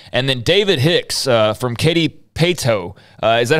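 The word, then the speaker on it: Katy Paetow: And then David Hicks from Katy Pato. Is that how you say it? Yeah. Katy Pato, which is one of the newer schools.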